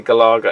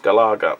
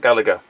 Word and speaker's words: Galaga: pac-man bosconian and galaga it's galaga it is actually galaga it is pronounced galaga not gallagher i hate to admit